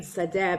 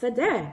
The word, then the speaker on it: Sade: offline about your name Sadeh because I asked you, how do you pronounce your last name? I thought it was Sade, and you said to me, no, it's pronounced Sadeh.